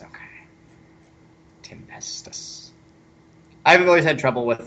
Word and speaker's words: Tempestus: Guard stuff so that's how you say it tempestus okay tempestus I've always had trouble with that with the